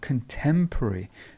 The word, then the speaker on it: contemporary: beginning then we have contemporary notice how the stress is in the middle so something which is